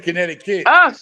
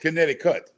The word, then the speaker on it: Connecticut: I love it now me saying kinetic kit it's not kit it's kinetic cut yeah but he's saying